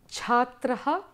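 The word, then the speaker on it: छात्रः: Rikshaha, margaha, margaha, naraha, naraha, balakaha, balakaha, janaha, janaha, chhatraha, chhatraha. It's a nice open mouth with an aspirated sound at the end.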